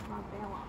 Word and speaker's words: Marbella: You were actually the best at that at Marbella. One point, which was quite surprising. Marbella. Marbella. And we know that that's not how you say it. Yeah, no, we know. We know it's Marbella.